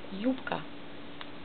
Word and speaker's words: Юбка: Erste Buchstabe Ju, sie sind vorne. Die spricht man mit J mit O. Betonung auf erste Silbe. B wird etwas nicht so laut, B wird es nicht so laut und dann wird eben P. Юбка. Man schreibt B, spricht aber P raus.